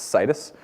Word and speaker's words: Citus: you may have noticed I'm pronouncing it like Midas it's cus um we make cus